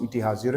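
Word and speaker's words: ETH: of Singapore Switzerland की ईटी हाजर ईटी एच उसको लिखते हैं लेकिन उसको प्रोनाउंस ईटी हाजर करते हैं जहां से आइंस्टाइन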